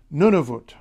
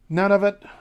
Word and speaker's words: Nunavut: and finally most recently nunut you might want to say none of it back when it was created